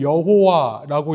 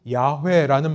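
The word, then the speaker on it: Yahweh: 우리가 이것을 여호와라고 읽었습니다만 정확한 말은 주님 혹은 야회라는 말입니다.이 야회라는 이름이 주님이라는 이름이 여기서부터 나왔습니다.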